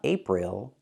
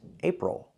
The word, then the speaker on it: April: pronounce the word April it's not April it's April we have to use the o sound for the last o o like in little table o oh it's a closed relaxed sound plus the